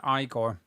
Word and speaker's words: Igor: Someone's saying you pronounce it Igore.